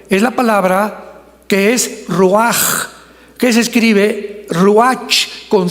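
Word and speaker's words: רוח: La palabra para espíritu en el hebreo es la palabra que es roaj, que se escribe rua con ch, pero repito, ese pronuncio pronuncia como J.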